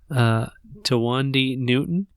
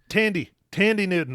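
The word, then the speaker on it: Thandie Newton: It is starring Chris Pine, Tawandi Newton. Tandy Newton. That's how you pronounce it. Tandy Newton, Lawrence Fishburne, Jonathan Pryce, and it's about two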